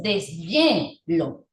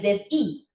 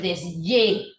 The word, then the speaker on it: deshielo: Pero yo no digo deshi, sino que dices deshielo. Y pareciera que la H sonaría más o menos como una consonante Y, ¿cierto? Con yeísmo. Porque usted no dice el deshi, sino el desye.